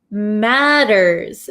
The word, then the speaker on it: matters: pronunciation okay to make matters matters worse so this T sound here in American English is going to sound like a soft English D sound D D D um